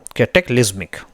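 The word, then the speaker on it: cataclysmic: कैटेक्लिस्मिक, ये है इसका प्रोनाउंसिएशन।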